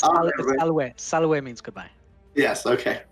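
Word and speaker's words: salve: I gotta pronounce it right. All right. Yeah, it's Salwe.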